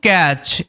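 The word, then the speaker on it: catch: আপোর fisherman একজন দরিদ্র জেলে, ট্রাইড মানে চেষ্টা করেছিল, টু ক্যাচ, এই যে টি, এই টিটা কিন্তু সাইলেন্ট, সিএইচ এর আগে টি থাকলেই টি কিন্তু সাইলেন্ট, আর টু আছে, এই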